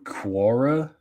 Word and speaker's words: Quora: And this is according to Quora, I think. Yeah, that's how you pronounce it.